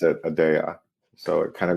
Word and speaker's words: Aadya: it's uh it is Adia that's how it's pronounced in Latin or the Middle East but we pronounce it adaa so so it kind